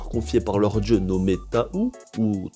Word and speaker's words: Tahu: Et grâce au pouvoir confié par leur dieu nommé Tahu, ou Tahu, parce que ça s'écrit T-H, non, T-A-H-U.